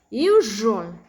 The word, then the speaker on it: usual: Many non-native speakers miss this pronunciation with the sound. Usual, usual, unusual.